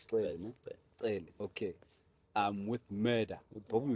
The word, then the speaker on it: Xele: And help me pronounce it. Is it Xele? Yeah. It's Xele, no? Xele.